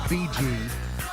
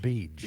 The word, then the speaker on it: Beej: It's not BG. I saw that in your pronouncer the other day. Not Yes. BG, it's just Beej.